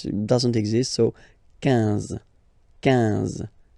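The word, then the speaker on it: quinze: 15. 15.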